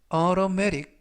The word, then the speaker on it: automatic: 이번 표현은 automatic, automatic, automatic 이라고 발음하시면 되겠고요. 이때 T 발음들이 트가 아니라 그래서 automatic보다는 automatic 이라고 발음하시면 좋겠습니다.